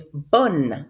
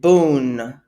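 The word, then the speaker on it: bonne: talking about it okay your feminine form is bun bun bun so we're not gonna pronounce it boon pronounce it rather bun okay um a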